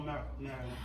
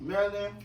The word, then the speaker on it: Maryland: Okay, Baltimore, Maryland. Maryland. Oh, wow. You gotta say Maryland, because that's how they say it up there.